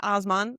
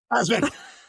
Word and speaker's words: Asman: And we can also spread the word about Osman. Wait, did I say it right? Asman.